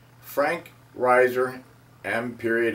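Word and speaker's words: Reiser: period cap last period Riser is spelled r-e-i-s-e-r I encourage you to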